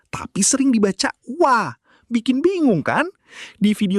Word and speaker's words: は: Nah, si wa ini unik. Ditulis H, tapi kalau jadi penanda topik, dibacanya wa.